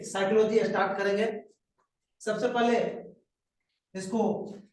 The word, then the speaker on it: psychology: सबसे पहले इसको इंग्लिश में लिखने के लिए सीखना है, क्योंकि इसमें पी साइलेंट होता है, पी से शुरू होता है लेकिन पी का उच्चारण नहीं होता है। PSYCHOLOGY होता है साइकोलॉजी, और हिंदी में कहते हैं इसको मनोविज्ञान।